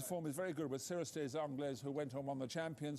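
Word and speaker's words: Cirrus des Aigles: Yeah, but Announce's form is very good with Cirrustes Anglais, who went on the Champion Stakes. And how do you say that horse's name again? What is it? Well, Cirrustes Aigles.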